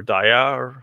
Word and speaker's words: Dia: wrote this tool called dia or dayar how you want to pronounce it this gtk app for